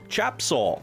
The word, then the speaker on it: Tajeb Soul: All best, Tajeb Soul. Pronounce Chapsol. Chapsol.